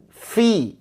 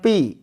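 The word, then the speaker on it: في: ke hidung waktila waktila fi fi fi bukan Pi Fi bisa Fi coba Fi Ah saya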